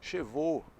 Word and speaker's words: chevaux: Então, com essas associações do avô no cavalo e com cabelo que eu quero, você nunca mais vai errar a pronúncia, a diferenciação entre cabelos, cheveux, e cavalos, chevaux.